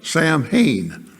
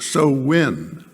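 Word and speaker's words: Samhain: h a i n and that looks like Sam Hayne but it's pronounced so win and don't well I must say don't ask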